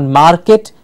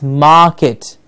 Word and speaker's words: market: can remember for ourselves we're before a consonant is silent it's not market its market it's not dark it's